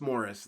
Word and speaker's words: Maurice: barry robin and maurice morris spelled like maurice pronounced morris then andy gibb uh